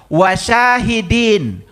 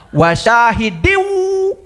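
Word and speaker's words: وَشَاهِدٍ: Wah itu katanya Saiful Karim bacanya wasyahidin. Harusnya wasyahidiwu gitu. Kan saya bukan sedang ngajarin Quran ya. Kan saya bacanya pisah-pisah wasyahidin wa mashudin gitu. Saya tahu ya saya tahu ya. Itu yang namanya kasrah kasratain menghadapi wau itu idgham bigunah. Dibacanya wasyahidiwu.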